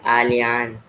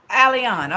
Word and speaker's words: Alyan: thank you so much by the way it's Alan alion okay alion thank you I want to make sure I pronounce it correctly yes now it's perfect uh